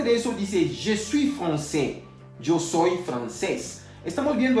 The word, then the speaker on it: français: Estamos viendo français, está escrito con la A y S al final. Ya habíamos visto hace unos minutos atrás que la AI se pronuncia E. Entonces no diremos francais, vamos a decir français. A saber lo siguiente también, que la S final no se puede pronunciar.